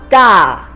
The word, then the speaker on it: 大: It's a combination of de and a with the fourth tone. De a, da.